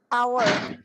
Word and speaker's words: hour: Cara bacanya gimana? Hour. An An hour ya. hour. Nah, itu kan H-nya nggak dibaca gitu loh.